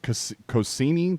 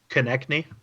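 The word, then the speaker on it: Konecny: But Cossini, that's what it looks like it is. But how do you pronounce it? Konechny.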